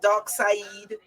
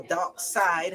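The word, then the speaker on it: Darkseid: human not talk about dark Sayid or dark side however you want to pronounce his name okay can they say dark side but it's really when you read it it's really dark side he'd okay the old man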